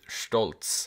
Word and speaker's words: Stolz: a big brother named stoltz at least that's how it's pronounced in german it means proud but